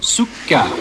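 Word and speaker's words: سكر: Parce que le commerce méditerranéen, mon ami, soucar signifie sucre. Écoutez la prononciation Sukka.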